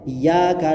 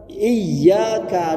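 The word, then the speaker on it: إياك: itu hurufnya do dobel masih banyak yang bacanya itu iyaka na'budu wa iyaka nastain yakni ynya itu tidak do tidak dobel itu maknanya jadi salah ibunda kalau dibaca dobel tasdidnya itu benar-benar iyaka na'budu wa iyaka nastain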